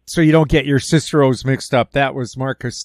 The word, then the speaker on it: Cicero: that was Marcus tius Cicero okay and okay now that we're being picky yeah kicko H kicko that's right I took three years of Latin and I know how to pronounce this yes it's not Caesar